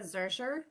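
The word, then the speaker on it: Zuercher: record um could you state your name and spell it for us please Zer J SS I ca z u e r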